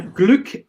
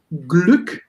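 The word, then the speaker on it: Glück: consonants after and woken you have to pronounce this uh vowel in a short way like in um here when you have gluck it's the um the open version of gluck but when you have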